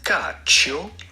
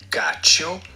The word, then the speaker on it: cacio: Cacio. The C here is pronounced like CH, cacio, which means and in Italian.